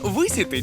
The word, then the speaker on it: висіти: висіти висіти висіти так-так у слові висіти подвійний наголос тому і висіти і висіти- правильні варіанти пощастило ну ну так